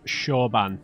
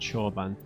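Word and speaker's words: Chorban: me i guess so that's pronounced shawban not sure bun he might have said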